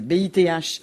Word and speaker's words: Bith: Moi, j'ai des cousins comme ça qui s'appelaient Bith, B-I-T-H. Ils voulaient qu'on prononce à l'anglaise.